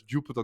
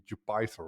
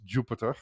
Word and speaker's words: Jupyter: Why are they pronouncing it Jupiter when it should be Jupythther, right? And then I went into Wikipedia and it actually says it is pronounced Jupiter because it has some kind of link and also the logo